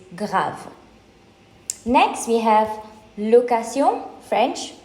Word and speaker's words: grave: So the English pronunciation will be grave and the French pronunciation is grave.